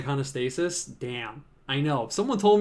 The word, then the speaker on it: iconostasis: more question I'm mispronouncing iconostasis damn I know someone told me that and I was like I really that the vitro is it iconostasis it's like honest Asus I'm gonna have to